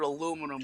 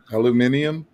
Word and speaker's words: aluminium: Aluminium? Yeah, Mark gets crazed about it. Aluminum. Yeah, I often wonder why they say aluminium over there when we pronounce it aluminum.